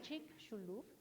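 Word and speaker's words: Chicxulub: A ver, pronuncia. Chic shulup. Es una palabra maya.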